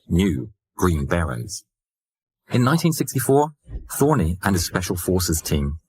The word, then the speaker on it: Thorne: war was well underway he changed his name to to Larry Thorne although he preferred the hybrid pronunciation thorny Larry had been living